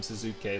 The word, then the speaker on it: Suzuki: And he told me to pronounce his name Suzuki like this, by the way, so that's why I'm saying it in this way.